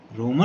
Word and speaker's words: राम: जैसे हम योग दिवस को योगा दिवस, अशोक को अशोका, राम को रामा, गुप्त को गुप्ता, शुक्ल को शुक्ला जैसे शब्दों का प्रयोग करते